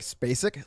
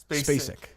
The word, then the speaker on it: Sissy Spacek: Sissy Spacek. It's close. Gus, how do you pronounce it? I'd say it's like Spacek. Like Sissy Spacek. Spacek.